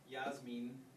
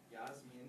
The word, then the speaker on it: Yasmin: name because I said Yasmin with an E sound. I was rolling with Spanish pronunciation. She said, that's not right. And I said, will you say it for me? And she said, Yasmin.